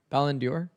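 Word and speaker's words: Ballon d'Or: And for the How do I pronounce it by the way? Is it Balon Ballendor? Ballendor.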